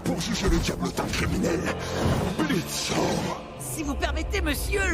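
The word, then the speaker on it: Blitzø: Nous sommes ici réunis pour juger le diablotin criminel, Blitzo. Si vous permettez, monsieur, le O est... carrément là, vous l'avez super bien prononcé.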